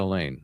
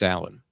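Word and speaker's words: Alain: Is that pronounced Alan or is that Elaine? It's Alan.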